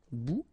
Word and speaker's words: bout: Remember, final T not pronounced. Un bout.